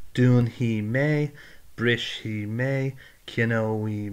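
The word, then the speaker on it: dúnfaidh: Dún hi. Now, you can pronounce it as a he or a fi. Most people would say he, so it's dún hi.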